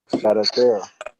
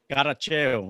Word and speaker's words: Caracheo: Caracheo. Caracheo.